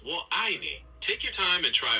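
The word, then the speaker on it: 我爱你: Just make sure that the middle word sounds like the word I. So, it's wo ai ni.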